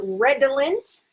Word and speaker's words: redolent: And it could be an ul or an ill, and I'll explain that in a second.